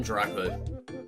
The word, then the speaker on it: Draco: Yeah, it's pronounced um Draco.